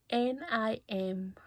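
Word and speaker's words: Niamh: And it's pronounced N-I-M. Not pronounced, but it's spelled N-I-M-E. No. N-I-A-M-H.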